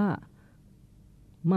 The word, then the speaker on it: มา: อ่า คือ คำ ว่า มา อ่ะ นะ ฮะ มาเนี่ย ถ้า ไป ทาง ทาง ทาง ตะวัน ตก ของ กรุงเทพ เทพ นะ ฮะ ทาง สุพรรณ ทาง อะไร เนี่ย จะ ออก เสียง ว่า หมา อ ห นะ ฮะ แล้ว